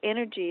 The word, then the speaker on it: Enirgi: So Energy, and that's spelled Enirgi, so it's an I with or an E with an I.